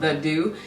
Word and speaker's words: The Doux: about their hair care products so it's called the do let go ahead and grab some more and that's how you pronounce this brand it's called the do and I do you get it I do